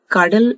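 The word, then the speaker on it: coddle: कार्डल, इसका प्रोनाउंसिएशन कार्डल है।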